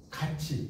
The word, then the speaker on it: 같이: 같이. 이거 어떻게 읽어요? 같이라고 읽어요? 같이라고 읽어요? 같이. 그러니까 디귿이나 티읕이 이 앞에서 지읒이나 치읒으로 바뀌어.